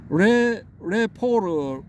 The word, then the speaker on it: rapport: 레포르 발음은 레포르 뭐 이렇게 될 겁니다. 레포 혹은 레포르 뭐 이렇게 되는 것 같은데, 아무튼 뭐 이게 이 신뢰하는 관계, 친밀한 관계.